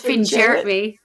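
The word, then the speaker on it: Fingeret: Well, he says Finn Jarrett.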